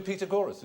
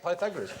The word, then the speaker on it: Pythagoras: do the pagor and are we going to do Peter gorus go shut up FR Peter gorus years later I discovered he meant Pythagoras he used to pronounce